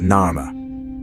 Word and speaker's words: Narmer: The first figure is of a catfish pronounced nar and the second of a chisel pronounced mare in ancient Egyptian.